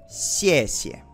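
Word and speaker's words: 谢谢: Acuérdense cómo se pronunciaba la X. Tienes que tener una sonrisa en la boca. Xiexie. Gracias. Y ahí yo lo pongo con ese como que xiexie. No es 100% xiexie. No es así.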